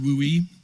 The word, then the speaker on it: WUI: dwell on that, but WUI or pronounced WOOI stands for wildland urban interface.